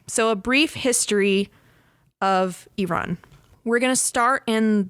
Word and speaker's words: Iran: So her first quote is, "Iran is not pronounced Iran. It's pronounced Iran.